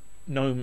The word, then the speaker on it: GNOME: user experience there is the gnome or gnome as they say it should be pronounced there is different versions